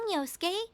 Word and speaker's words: Yosuke: Yosuke?